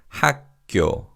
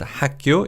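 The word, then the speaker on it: 학교: And this in Korean is hako. Haku. The word hack means knowledge and cure means school. And we will see this word hako used in other school names such as primary school and high school.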